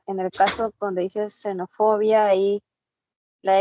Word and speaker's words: xenofobia: ya ya entend Claro en la palabra xenofobia por ejemplo no suena genofobia que si sonara genofobia tendríamos que representarla con ese símbolo también no Entonces es una palabra que se escribe con la letra X como tal pero suena como alveolar no xenofobia O sea la lengua al alveolo Un poquito más arriba